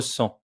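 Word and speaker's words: cent: Il ne nous reste plus qu'à découvrir le nombre final de notre leçon, le nombre 100. Le t final est muet. On prononce le son an comme dans maman.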